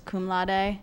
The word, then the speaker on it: cum laude: cum laude, and then there was cum laude. That's how you pronounce it.